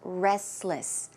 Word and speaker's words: restless: restless sleeper restless but if you pronounce the word a bit quickly naturally you may not hear the T so it could sound like restless Restless a restless sleeper